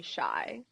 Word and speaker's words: Chey: I mean, I prefer people to call me Shy. Mhm. A lot of people used to call me Shay because they didn't know how to pronounce my name.